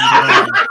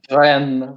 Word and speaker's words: Rennes: He's typing in fucking Google pronunciation right now, isn't he? Yeah, he definitely is. Rennes. Good job from Rennes. Let's hear that again. Rennes. One more time. Ren.